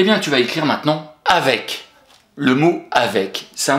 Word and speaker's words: avec: Et on va prononcer avec. Donc, tu retiens bien AV et puis surtout EC à la fin. Il est là le piège. Avec. Donc, EC à la fin, on a le son EK.